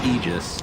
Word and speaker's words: aegis: that's really important center the pronunciation of ages it's actually aegis right right like literally a definition you can look it up but icefrog messaged somebody at bts and said i don't want it pronounced that way so if that's i'm